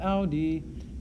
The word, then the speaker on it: audi: Going on, Dominus, the master, says, tace et audi, be quiet and listen. Again, notice that the imperative forms tace and audi both end in a vowel, a long e for tace and a long I for audi.